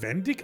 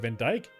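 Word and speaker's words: Vandyck: Moment, sein Name wird Vendik ausgesprochen? Ich dachte immer, es wäre Van Dyke.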